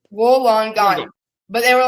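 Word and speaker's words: Wollongong: gong what is it how do you say it Woolen gong Woolen gong yes wolon gong wolong gong but they were like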